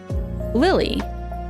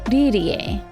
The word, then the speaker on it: Lillie: a different spelling of Lily in English. But, you know, I know that her name is actually pronounced like Lillie.